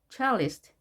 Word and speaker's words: cellist: 이걸 연주하는 사람 cellist. C로 시작했죠. 발음 기호는 CH입니다.